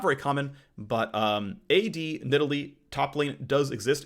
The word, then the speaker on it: Nidalee: it's officially in Italy it used to be nearly that was that was the Canon pronunciation for a long time but it's nidalee now okay um anyway and a